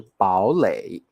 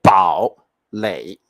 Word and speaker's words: 堡垒: 老师不是念堡垒，我不是念三声哦。